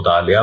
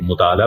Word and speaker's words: مطالعہ: یہاں خوب ملتے ہیں۔ مثال کے طور پر لفظ مطالعہ کو لے لیتے ہیں۔ کوئی شخص اس کو مطالعہ پڑھتا ہے اور بولتا ہے، کوئی اسے مطالعہ پڑھتا ہے، کوئی اسے مطالعہ، آئین کو حذف کر کے پڑھتا ہے۔ ऐसे ही लफ्ज